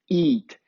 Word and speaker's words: eat: coloquei aqui para vocês, a pronúncia correta dessa palavra é it. E essa palavra é eat. Então, se a gente olhar a transcrição fonética, a única diferença que nós temos aqui é a vogal.